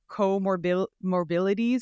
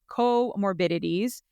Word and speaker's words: comorbidities: Because it's right in front of me, and I always call it comorbidities, but it's comorbidities. So we're going to talk about PCOS, comorbidities, and bariatric surgery together,